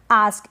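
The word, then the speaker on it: ask: Next है आस्क, इसको आस्क भी पढ़ते हैं और एस्क भी पढ़ते हैं, दोनों प्रोनाउंसिएशन करेक्ट है।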